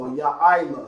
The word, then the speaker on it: Yaila: Like the YA there, I, which is how we have it right now, and La. So Yaila.